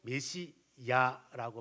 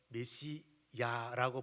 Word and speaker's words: 메시야: 왜 그런가 하면은 일반 이제 문화 속에 다른 언어들을 보게 되면은 아 쪽이 맞아요. 그런데 히브리 발음의 모습은 야 쪽이 가까워요. 그래서 성경을 번역하는 사람들이 그러면 아보다는 히브리어 원문 발음 가깝게 야라고 번역을 하자. 그래서 메시야라고 번역을 한 거예요.